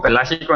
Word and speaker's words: Pelágico: Can you, Giro, can you actually help me with the pronunciation of that, because obviously I'm completely butchering it? Sure. It's Mexico Pelágico in Spanish.